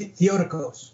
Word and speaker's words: Theotokos: Right, it's pronounced Theotokos.